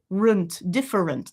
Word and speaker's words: different: And then I've got my schwa, different, different, different. Or if you want to get rid of that completely and do it in 2, we got the same thing happening, right?